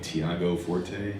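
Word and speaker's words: Tiago Forte: Um it was I think Thiago Forte is that how you say his name?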